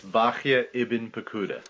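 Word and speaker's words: Bahya ibn Paquda: And Rabbi Baha ibn Pequada, That's Bachya ibn Pekuda.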